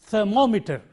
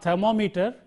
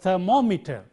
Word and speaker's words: thermometer: instrument of measuring something the stress is on the syllable immediately preceding meter and look at this word in this word the syllable immediately preceding meter is this and therefore we pronounce it thermometer not thermometer but thermometer